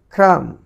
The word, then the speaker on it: crumb: CRUMB, cram, cram, cram, cram.